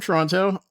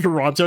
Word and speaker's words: Toronto: You're not from Toronto. You're still pronouncing the T the second T. H I'm not I'm not calling it Toronto. Yep. I'm Toronto, born and raised, but yeah.